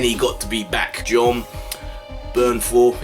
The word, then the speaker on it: Jon Bernthal: John Bernthal, it's the first time I pronounced it right.